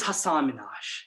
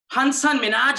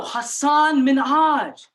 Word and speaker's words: Hasan Minhaj: it as yes Surya my name is Hasan Minhaj and you know I would get hunson Manoj ah no no no no Hasan Minhaj so Heineman huh no no Hasan Minhaj Saddam Hussein and it